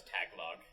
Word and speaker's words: Tagalog: It wasn't until after I met people that spoke Tagalog that I thought it was Tagalog. Yeah. Until I heard it the first time. It's spelled Tag-A-Log, but it's pronounced Tagalog.